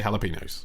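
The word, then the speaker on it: jalapeños: I say jalapenos. It's pronounced jalapenos, Well, though.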